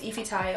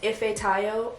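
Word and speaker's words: Ifetayo: you don't know my full first name is ify tayo i have known pronouncing it wrong i know i'm supposed to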